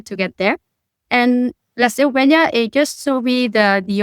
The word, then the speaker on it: Seu Vella: I'm probably going to pronounce this incorrectly, the Seu Vella? You don't even know what I'm talking about. That's how bad the pronunciation is. Yeah. Tell me how's it pronounced? Yeah. Seu Vella.